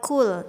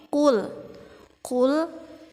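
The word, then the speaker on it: قُلْ: ada huruf of ya Jangan dibaca Cool tapi harus dibaca tebal kul-kul a'udzu cool a'udzu disini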